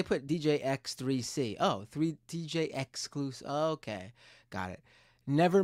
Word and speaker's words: DJ XXXclusive: Exclusive, but with three X's. Got it. DJ. Well, they put DJ X3C. Oh, three DJ exclusive.